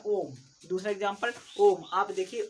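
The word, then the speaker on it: ॐ: उसको उच्चारण करिएगा कभी, तो आप ऐसे बोलेंगे ओम। देखिए ओम शब्द का जो उच्चारण है आपने लंबे समय तक किया है ना, याद रखिएगा।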